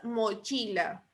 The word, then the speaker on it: mochila: La sílaba tónica de mochila es chi, porque chi lleva la mayor fuerza de voz.